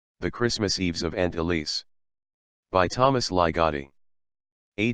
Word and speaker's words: Elise: Christmas Eves of Aunt Elise by Thomas lie Gotti a tale of possession in old crosspoint we pronounced her name with a distinct Z sound remember jack remember the